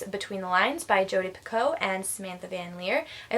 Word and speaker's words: Picoult: I said Picoult in a previous video, and then I noticed that most people were not pronouncing the LT at the end, so I'm just going to say Picoult.